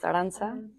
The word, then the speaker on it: Arantxa: So my name is Arantxa pronounced Aranza.